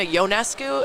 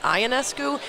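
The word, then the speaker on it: Ionescu: spend a second to learn it Sabrina yonescu and not aesu even when she's breaking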